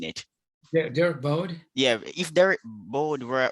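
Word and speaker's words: Derk Bodde: Yeah, like if Derek Bard was how do you pronounce his name? I keep mispronouncing it. Derek Bode.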